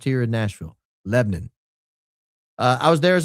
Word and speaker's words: Lebanon: It's really two syllables. Lebnon. L E B N U N. Lebanon. That's how it's pronounced here in Nashville. Lebnon.